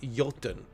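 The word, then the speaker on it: Jotun: have a look at it's spelled with a J but I believe it's pronounced yton J T N uh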